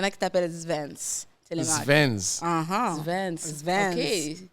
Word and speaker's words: Svens: Svens. Uh-huh. Svens. Svens. Okay. With like a S, but pronounced like a Z. Kind of, yes. Svens.